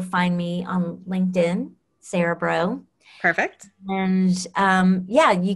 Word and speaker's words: Braud: say illiterate cajuns so so it's like the b-r-a-u-d yes translates as bro okay so um it's